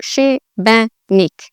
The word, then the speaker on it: Šibenik: with the accent, so the sh actually sounds like an SH, sh. So it's she, the I sounds like an E sound, so Šibenik, Šibenik. And again, the emphasis on the first part of the word, not like the second